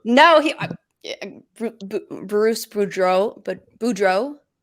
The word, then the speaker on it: Boudreau: if you want no he Bruce Boudreau but Boudreau right that's how you say his name Boudreau I never say his name right I don't